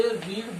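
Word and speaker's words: read: और आपने अगर इसका प्रोनाउंस क्या कर दिया, रेड कर दिया, क्या बोल दिया, रेड, तो ये कौन सा बन जाएगा, past. They रेड the Ramayan, क्योंकि रीड की first form रीड, रेड, रेड।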